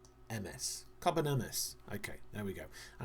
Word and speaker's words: Carbonemys: No, not Carbonosaurus, it's Carbonemys. Carbonemys.